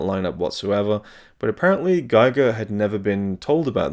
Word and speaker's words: Giger: Geiger, or Giger, depends on how you want to pronounce it, or how it is pronounced, I suppose. There surely is a correct one, but many people use different terms, or different ways of pronouncing it. It's either Giger or Geiger.